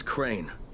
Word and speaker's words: Crane: no my name is crane crane rhymes with train and brain and sane and grey and rain and plain and the other kind of plane and and can I